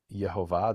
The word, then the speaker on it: Yehovah: The angel says to him, Yehovah, that's the letters Yud Hey Vav Hey, according to the pronunciation I understand.